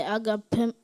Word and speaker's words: agapemone: When I say agapemony, Agapemony. Am I pronouncing the word correctly? Yes, that's one pronunciation.